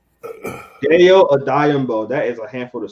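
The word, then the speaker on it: Odeyingbo: They only had one pick, and they had Dale Ajayi, say Odayingbo. Dale Odayingbo.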